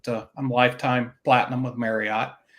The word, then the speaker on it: Marriott: I'm lifetime Platinum with Marriott and or marott I think is a proper pronunciation and uh yeah it's